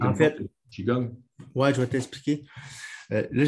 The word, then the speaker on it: Qigong: Tu prononces Mhm. Qigong, Qigong, Mhm.